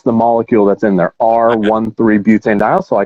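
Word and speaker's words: R-1,3-butanediol: one comma three yeah we we pronounce it r one three so that's the we'll get into this in a second but that's the molecule that's in there r one three butane dial so i called i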